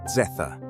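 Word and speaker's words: zeta: Z, pronounce zetha.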